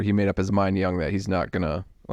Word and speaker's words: Jung: the Life of George Young it's either it's George j u n g but I think it's pronoun pronounced Young no I think it's George Young is what it sounds like like J Jung third